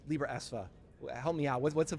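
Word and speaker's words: Libraesva: Yeah, there is a lot of history around that, and thank you for pronouncing it correctly, Libra ESVA.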